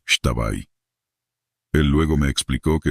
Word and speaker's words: Xtabay: Este es el trabajo del mal, el Extabay, pronunciado Shtabay.